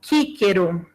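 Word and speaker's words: Cicero: som de c lembra-la do cícero que se pronunciava como quiron o som era de cá então assim vamos pensar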